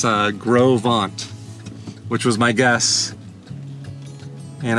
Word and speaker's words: Gros Ventre: They do say, she said it's Gros Ventre. So not how Google's saying Gros Ventre. She said it's Gros Ventre, which was my guess.